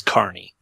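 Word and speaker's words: Kearney: the the the name of the city is Carney Carney yeah don't have them to have a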